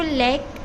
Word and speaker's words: lakh: ये है लेक, English में इसको लेक और लेख बोलते हैं, हिंदी में लाख।